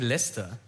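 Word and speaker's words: Leicester: ist ja in den Händen einast das richtig ausgesprochen danke der Verein Lester ist in den Händen eines thailändischen Millionärs wie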